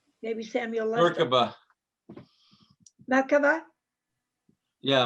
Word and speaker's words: Merkaba: I love that term, the Lord's Breath Kabbalistic Meditation, ancient technique for awakening the Mikava. Is that pronounced right, Samuel? Mikava. Maybe Samuel. Merkaba. Merkaba? Yeah, Merkaba.